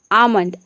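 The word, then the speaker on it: almond: आमंड में भी आप देख रहे हैं कि ए के बाद यहाँ पे एल के बाद एम आ रहा है और यहाँ पे एल साइलेंट है, केवल हम एम को प्रोनाउंस कर रहे हैं, तभी इसका प्रोनाउंसिएशन हो रहा है आमंड।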